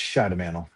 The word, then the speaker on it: Schidemantle: Uh, it's pronounced Shadamanel.